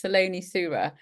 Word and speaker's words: Saloni Surah: And the Americans always you always it seems to be pronounced differently, but it's Saloni Surah.